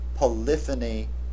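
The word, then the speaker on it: polyphony: Polifany polyonic that is the accent on the second syllable for the noun and on the third syllable for the adjective.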